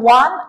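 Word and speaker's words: one: তাহলে হিসাবটা হচ্ছে স্যার, ওয়ান আইড ম্যান যখন বলছে, ফ্যাক্ট এখানে ডব্লিউ বা ও আছে, এটা কিন্তু ফ্যাক্ট না।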